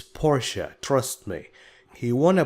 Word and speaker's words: Porsche: he won a Porsche GT3 this is not pronounced as Porsche no it's Porsche trust me he won a Porsche GT3 cup